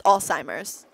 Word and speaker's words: Alzheimer's: ASMR Al wait Alzheimer's it's wrong it's Alzheimer's she thinks there's a tea in it and then I think I just think the Z is like and then she like